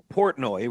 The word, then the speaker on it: Portnoy: So Dave Portnoy, right?